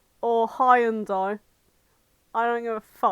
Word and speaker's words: Hyundai: yet I have a hundi or high andai I don't give a what oh I'm still pissed off that apparently Hyundai cars have always been pronounced hundi oh Hundai yes yeah